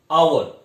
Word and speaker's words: hour: So here is a pronounce is not H. Here pronounce is like O. Not hour, hour. So like that words you also write and articles. Like that O. So we pronounce like a O.